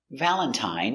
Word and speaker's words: Valentine: Valentine uses the original I sound. I, long I, Valentine.